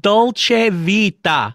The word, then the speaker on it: Dolce Vita: Okay, sounds like you're saying, hey, waiter, can I have some ceviche, which is an appetizer, okay? It's pronounced Dolce Vita.